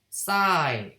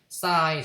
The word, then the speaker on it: psi: y를 파동함수가 고전적인 파동함수 y 대신에 psi, psi라고도 사람들이 읽는데 정확하게는 psi라고 읽으면 돼. psi인데 그냥 psi. p는 묵음이라서 그냥 psi라고 읽을게.